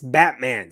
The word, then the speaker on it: Batman: His name is Eric Batman. Yeah, it's Batman. Spelled the same way, pronounced the same way.